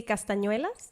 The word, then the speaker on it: castañuelas: How do you say it in Spanish? Well, we say castañuelas.